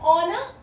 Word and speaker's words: honor: Because honor, H is silent here. When we say honor, O, so an will come here.